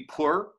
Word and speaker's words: power: Some other examples are power, almost always elides to one syllable. Spirit, so power would be pur, which is, again, strange.